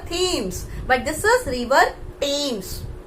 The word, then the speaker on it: Thames: आप इसे थॉमस पढ़ते होंगे, पक्का है कि आप इसे थॉमस ही पढ़ते होंगे, but here H is silent, H sound is not there.